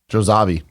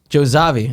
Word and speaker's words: Jozavi: How do you say that last name? Jozavi. Jozavi.